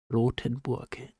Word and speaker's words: Rotenburg: couple the cannibal of rottenburg rotenburg that's how he pronounce it in Germany it's difficult is that